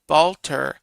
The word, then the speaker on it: balter: Balter. B A L T E R is how it's spelled.